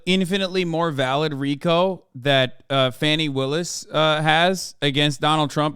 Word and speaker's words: Fani: One is, it's pronounced Fani.